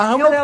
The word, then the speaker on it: Hammer: É, a Hammer é pessoas, é, enfim, como você pronuncia o martelo. É a Hammer.